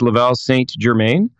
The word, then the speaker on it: Laval St Germain: Yeah, it's a French Canadian name. So when it's English, it's Laval St Germain.